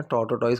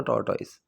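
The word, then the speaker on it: tortoise: अब इसकी जो प्रोनाउंसिएशन है टॉर्टोटॉइस कुछ मत करना, टॉर्टोइस, दैट इज टॉर्टोइस।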